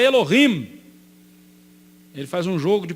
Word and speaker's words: Elohim: Então Davi Pronuncie essas duas palavras. Eles são Elilim. E o nosso Deus é Elohim.